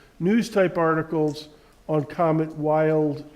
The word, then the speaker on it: Wild: type articles on comet wild 2 and that's that's how I pronounce it supposedly it's a German guy it's so it's supposed to be pronounced billed to but I always